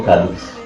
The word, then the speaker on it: Kaleef: Pourquoi le nom Khalif?